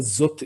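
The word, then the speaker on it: זאת: 자, 이 알레프에 아무런 모음표가 없으니까 묵음 표시입니다. za인과 탑만 발음하시면 돼요. zot 이렇게.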